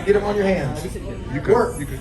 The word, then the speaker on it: wort: Wort. So we pronounce it W-E-R-T. It's spelled W-O-R-T.